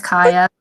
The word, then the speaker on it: Kaija: It's Kaija. Thank you. Kaija, oh cool, Kaija, the J is pronounced H, got it.